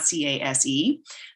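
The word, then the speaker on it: CAES: three years now and case is spelled c-a-e-s not c-a-s-e but we pronounce it case and what we do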